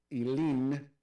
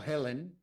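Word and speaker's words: Helene: huracán eh eh yin ilin No Helen porque era ilin Helen es sin la e al final eso es Helen sería Helen el de la semana pasada es con se escribe con una e al final por lo tanto es elin Pero en fin como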